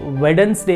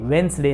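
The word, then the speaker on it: Wednesday: And then ಅದೇ ರೀತಿಯಾಗಿ ಈಗ ಬುಧವಾರಕ್ಕೆ ನಾವು ಏನಂತಂದಂತಿರ್ತೀವಿ, ಬುಧವಾರ ದಿನಕ್ಕೆ ಈಗ ವೆಡನ್ಸ್ ಡೇ ಅಂತಂದು ಕರೀತಾ ಇರ್ತಾರೆ ಕೆಲವೊಂದಿಷ್ಟು ಜನ. ಬಟ್ ಅದು ಆ್ಯಕ್ಚುಲಿ ವೆಡನ್ಸ್ ಡೇ ಅಲ್ಲ, ವೆನ್ಸ್ಡೇ ಅಂತ ನನ್ನ ಬೇಕಲ್ಲಿ ಡಿ ಸೈಲೆಂಟ್ ಆಗುತ್ತೆ.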